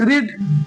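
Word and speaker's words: read: আছে পড়েছিলেন পড় ইংলিশ রিড এইযে রিড কিন্তু ভাবটু কি হবে রেড একই বানাম উচ্চারণটা আমরা ডিফারেন্ট করবো মাই ব্রাদার রেড ঠিক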